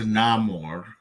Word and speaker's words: Namor: uh she said that they changed the pronunciation um so that it would be uh El Nino sin Amor which means the boy